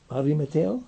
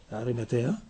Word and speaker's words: Arimatea: ¿Arimeteo? ¿Cómo se dice? Arimatea.